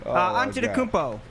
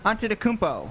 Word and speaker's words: Antetokounmpo: Antetokounmpo. One more time. Antetokounmpo. Nails it. He nails every syllable in that name, and it's a tough name. Antetokounmpo.